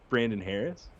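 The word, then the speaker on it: Hoerres: Can you say his name right? Brandon Harris. Are you talking about Brandon? H O E R R E S. Brandon Harris. There's no A in that. Brandon Harris.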